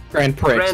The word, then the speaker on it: Grand Prix: Grand Prix. It's pronounced Grand Prix.